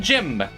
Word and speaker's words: Jimb: I am Jim. And I keep saying it's a silent B, and I keep kind of pronouncing the B.